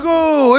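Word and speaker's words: 五: Son nom renvoie au chiffre 5 qui se prononce go en japonais.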